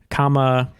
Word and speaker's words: Kamehameha: It's just I would spell it the wrong emphasis. Kamehameha.